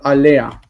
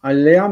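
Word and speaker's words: עליה: don't say it because the intervocalic he disappears and instead we say Anda and alah ala alah means upon her to her but we don't say yeah and Al and it's technically correct to pronounce the hey but most speakers of Hebrew will not does that make sense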